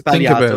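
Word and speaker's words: Sbagliato: Stop saying Spagliato. Come on, try harder. Just try harder. Look, pronunciations are a tough thing, but it's not. It's Spagliato. It's easy.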